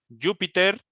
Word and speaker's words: Júpiter: aquí está tu curiosidad júpiter tiene el día más corto de todos los planetas como cambiamos para que aquí no digas peter pues es que le hace falta un acento en la u por eso la ortografía